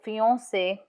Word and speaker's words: fiancé: For example, fiancé, C in front of E is pronounced S. So fiancé or merci, merci.